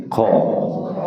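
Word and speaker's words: خ: এরপরে আমরা হরফটা দেখি খ গইন খ গইনের সাথে জোড়া এই হরফটি হলকের শেষ ভাগ হতে এই খ হরফটি মোটা হবে খ হরফটি কি হবে আমরা এইভাবে উচ্চারণ করব খ খ খ খ জবর খ খ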